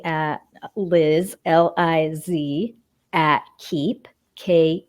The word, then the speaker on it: Keepe: Liz Li Zi at keep ke e PE dot-com and and they can check keep out at Keep Calm and it's keep with a silent e at the end yes calm right yeah